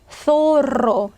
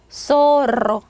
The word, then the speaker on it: zorro: 사라라고 이렇게 발음을 하겠죠. 자, 또 소로 여우죠. 예전에 마스크 오브 조로 있었는데 자, 소로. 자, 중남미 사람들 얘 발음하면 소로. zorro.